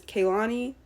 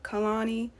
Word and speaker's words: Kehlani: and first of all she basically said that we be saying her name wrong it's Kalani not Kanani but like she said